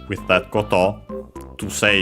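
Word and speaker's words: こと: After that we have the noun koto, thing as in matter, accent on the last syllable.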